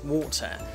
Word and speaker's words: water: so it's worth but the water water sound happens inside your mouth so imagine there is